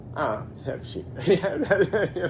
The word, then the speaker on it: Sevcik: It's pronounced Sevcik. Wow. Okay. An easy way to remember in English, not necessarily in Spanish, is as the chef who cooks chicken. Ah, Sevcik.